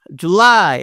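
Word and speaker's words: July: June একবারে উচ্চারণ শেষ জুলাই জুলাই দেখো জু এটা একটু আস্তে বলতেছি আর লাইটা জোরে বলতেছি একটু জোর দিয়ে কিভাবে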